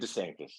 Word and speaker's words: DeSanctis: Moore, and help me pronounce his last name. Is it David? David DeSanctis.